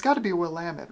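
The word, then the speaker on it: Willamette: is oh this is I'm going to pronounce this wrong I know it because I call it willamet but I think the actual pronunciation is wamit I think uh I don't I don't know is it is it wamit or willamet I guess I was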